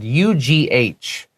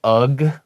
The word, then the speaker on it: ugh: Now this word UGH, sometimes you'll hear people say ugh, okay, but really it's a sound. And that sound is ugh.